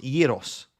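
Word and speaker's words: Gyökeres: It's pronounced Yiros.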